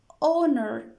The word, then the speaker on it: honor: before the noun but honor is some somehow different why is different because it begins with ha sound but it is not pronounced what's a pronounce it is oh honor it is silent so